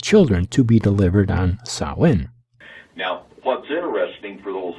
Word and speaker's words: Samhain: you know what let's find out how to pronounce silent shall we david now please watch closely we'll do a simple google search sawin sawin sawin the people in named they would have to